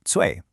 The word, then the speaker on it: 脆: absolutely exploded in popularity, the user base affectionately pronounces it "cui," which literally translates to crispy.